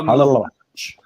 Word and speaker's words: Milivojevic: I can't pronounce his name. Millie. Yeah, you'll say it for us. Milivojevic. Luka Milivojevic.